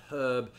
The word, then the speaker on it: herb: we're talking about pronunciation a lot of americans have a tendency to drop the h on herb whereas the british tend to keep it but that was